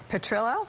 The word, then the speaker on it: Petrillo: I will defer to my new counsel, Guy Petrillo.